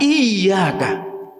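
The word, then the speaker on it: إياك: Lafaz iyyaka di sana ada tasdid. Jadi dibacanya agak ditahan, iyyaka. Maka ketika kita salah mengucapkannya, karena kita tidak mau belajar untuk memperbaiki bacaan kita baca iyyaka, dihilangkan tasdidnya. iyyaka na'budu wa iyyaka nasta'in.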